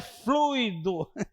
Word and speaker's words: fluido: É fluido. Separa as sílabas, né? Que a gente vê, é fluido.